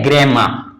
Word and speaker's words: grammar: जैसे इसको हम क्या पढ़ेंगे, ग्रेमा, यहां ए आर साउंड नहीं पढ़ेंगे, क्या हो जाएगा, ग्रेमा।